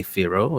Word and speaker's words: Firo: Like it was easy to say that, even someone in a different language can say Firo. It's 2 syllables.